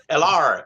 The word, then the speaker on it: Heller: Well, I I like just all thought the I'd people that It mispronounce does. Heller. Hello. Yeah. LR.